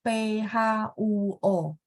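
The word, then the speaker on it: 坡: Jadi P itu bacanya PHUO supaya bagus ya. Singapura memang dia harus PHUO. Kalau nggak kita bingung ya.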